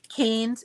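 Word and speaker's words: Kane's: a k k a n e apostrophe s Keynes it's on Route 1 going south and they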